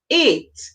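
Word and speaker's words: eight: Okay, in this word, E and I, in this word is saying A. The G and the H, they are silent letters, so we don't hear the song for them. And the T, we hear T. So we hear A, T, 8.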